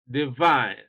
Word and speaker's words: divine: you why you know stress is on the second syllable because what you have here in this second syllable is a double sound I this is called a dipton sound I Divine here you have a